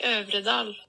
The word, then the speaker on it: Øvredal: Andre Overdo. How do we pronounce this? Hang on. Pronunciation. André Øvredal.